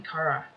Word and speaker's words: Chara: I'm just gonna keep pronouncing it Kara, because, you know, character, Kara.